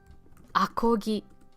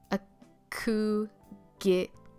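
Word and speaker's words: アコギ: Akogi.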